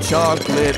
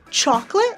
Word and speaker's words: chocolate: You've never had chocolate like this. So which one do you naturally use? Do you say chocolate like bought or chocolate like box?